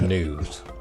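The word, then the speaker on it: gnus: like is the is the G silent or the foundation? Everybody calls them G and U even though they're they're news.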